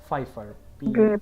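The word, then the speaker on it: Pfeiffer: Hemingway married Pauline ফাইফার, উচ্চারণগুলো একটু আলাদা তাই না? ফাইফার, Pauline ফাইফার।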